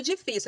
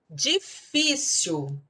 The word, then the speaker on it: difícil: Difícil. Difícil, sílaba tônica é a segunda de trás para frente. Então, ela é uma paroxítona. E é uma paroxítona terminada em L. Então, lembrando a regrinha do roxinol.